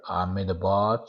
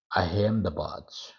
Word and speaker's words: Ahmedabad: Here, there are two pronunciations here: Ahmedabad or Ahmedabad. Okay, Ahmedabad, Ahmedabad for English.